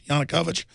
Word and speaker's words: Yanukovych: deposed government of victor how do you pronounce that yanukovych by pronouncing that right guys yanukovych i am pronouncing it right as the media widely